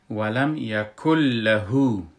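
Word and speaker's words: ولم يكن له: و در لغت یکن، یکن نوشته شده و چون نون نون ساکن است و نون ساکن پشت سرش لام آمده، در این حالت ما ای را ادغام میکنیم، نون بیخی تلفظ نمی کنیم و کاف کافی که دو است کاف کتی لام یک جا میشه و کاملا نون تلفظ نمیشه، که وقتی که ما میخوانیم اینو میگیم ولم یکل لهو.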